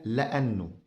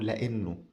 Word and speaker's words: لأنه: La dernière chose avec nous c'est « la'annou » ou « la'innou » "la'annou" ou "la'innou" la prononciation peut être légèrement différente Parfois certaines personnes disent "la'annou" certaines personnes disent "la'innou"...